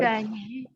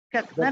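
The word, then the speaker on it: Gagné: Ganyi, Brunner, kemudian Ganyi tulisannya Gagner ya. Gagner tapi Gagner. bacanya Ganyi ya.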